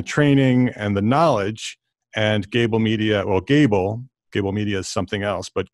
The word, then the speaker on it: Gābl: And it's spelled Gābl without any, it's G-A-B-L with a little line over the A, so everybody says it right.